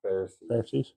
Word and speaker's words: Pharisees: Pharisees.